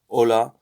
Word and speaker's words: hola: letters make in spanish hola uh silent as in the h island as in our so hola we don't